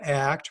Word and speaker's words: ACT: commitment training it's an act pronounced as one word steven c hayes is